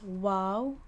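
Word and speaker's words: واو: happy and then there's wow which you pronounce as oo it is a vowel and you have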